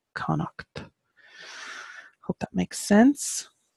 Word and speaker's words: Connacht: that's Co n and a CH T is Connacht in the old Irish and again just for the pronunciation of the house I'll say it again